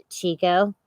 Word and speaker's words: Chico: All right, so Crypto Magician says Chino also can't pronounce anything correctly, and it is Chico.